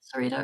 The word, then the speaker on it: Serita: Um, am I pronouncing your name right, Serita? Or is it Sarita? Does it matter? I always hear Serita. Serita, but like in a New Zealand accent.